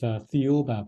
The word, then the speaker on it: Thiaoouba: Well, the author, Michel Desmarquet, pronounces as Thiaoouba Prophecy. The Thiaoouba Prophecy, okay. Which is similar to the pronunciation of Jehovah, which has a connection to the Bible.